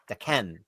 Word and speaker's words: Daken: If you look up the actual Japanese symbols for it and listen to the pronunciation, it's like Daken.